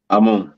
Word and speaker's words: Amun: Amun.